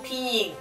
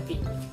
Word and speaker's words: pinyin: en chino es el pinyin. Pinyin. Claro, la gente dice pinyin, pero luego explicaré también por qué no se pronuncia así, es pinyin. Porque la Y se pronuncia como una I, básicamente.